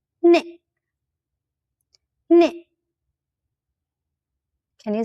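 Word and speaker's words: နှစ်: "Hni".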